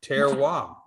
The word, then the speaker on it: terroir: one term so he didn't know how to spell it there we are tear WAP and that is the name of the game